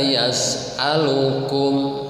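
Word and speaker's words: يَسْأَلُكُمْ: Man la yas'alukum, yas'a ya, harus jelas. Man la, jangan man la yas'alukum, alukum, harus a-nya harus jelas.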